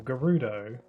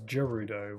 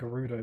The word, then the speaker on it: Gerudo: people pronounce it as Gerudo with a with a J sound, even though it's spelled with a G.